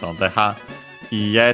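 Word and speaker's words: いいえ: accent on the ha, ie, technical accent on the e at the end, so even though usually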